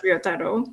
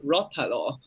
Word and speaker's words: Ryotaro: the tomato harvest, was Ryotaro. So Rotalo, Ryotaro. We always pronounce as Rotalo with the R sound. We know it after 2 years. Like a Spanish R, rolling. You roll the tongue.